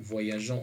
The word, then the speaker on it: voyageons: âgées nous tant qu' on a déjà dit que seul avec le pronom personnel nous qu'on ajoute un e pour arriver à prononcer le gg et non par gay donc nous voyageons je